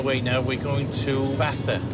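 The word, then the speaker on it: Baza: we're on our way now we're going to bathur it's b.a.z.a but it's pronounced bath batter with us because a friend of mine has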